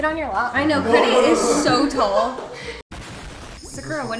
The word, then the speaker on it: Kyedae: It's actually pronounced Kyedae. Kyedae. But people have difficulty saying it.